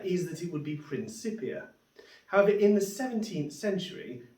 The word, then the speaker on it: Principia: Latin, then you'd extend the vowels and you pronounce this word of this book as Principia. And of course, I've never heard anyone refer to this book as Isaac Newton's Principia.